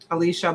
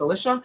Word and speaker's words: Alicia: I always say her name wrong because it looks like Alicia, but I know it's Alicia.